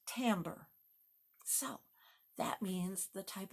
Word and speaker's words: timbre: It's spelled Timbre, but it's pronounced timbre.